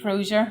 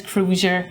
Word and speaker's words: Crozier: your last name crer kroer kroer kroer everybody says crer or crer is Cruiser just two syllables done I'm terrible with